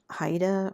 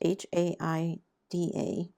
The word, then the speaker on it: Haida: There's a style of art called Haida or Hayida. I'm not sure how it's pronounced. H A I D A.